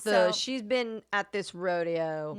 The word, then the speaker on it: Rodeo: way to the airport it's Rodeo Drive but when you get up to rodo it's rodo Drive really old are they are they spelled the same yes so we're laughing so it's Rodeo but when when you're in Beverly Hills it's Rod oh it's just you have to say it that way you say but